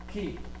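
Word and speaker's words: χ: El quiasmo viene de la letra griega ki, así se pronuncia, ki, que es, aquí se lo voy a poner para que de paso esa es la que utiliza para Cristo.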